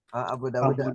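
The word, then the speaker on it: أبو داود: Abu Dawud bacanya. Abu Dawud. Abu Dawuda. Wa Hakim. Kan kita yang kita tahu kan Daud aja. Nyari aman. Abu Dawud. Dan Abu Dawuda. Ya sebagai mudhofilai dari Abu. Tandanya dengan fathah karena isim ghair mudhaf.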